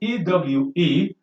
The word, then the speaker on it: ewe: seventh person no pronoun but this one is ewe similarly you that is how you should be pronounced it is a good you and so